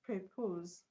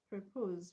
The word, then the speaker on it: propose: Now look at propose. Propose. Propose is a verb. So it's just on the second level.